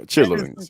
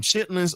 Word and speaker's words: chitterlings: Yeah, chitterlings. That is the proper way to pronunciate it. Pronunciate it. Chitterlings. But we call them chitlings or we call them